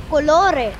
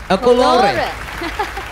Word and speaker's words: colore: Đọc là đọc sao? Colore. Colore.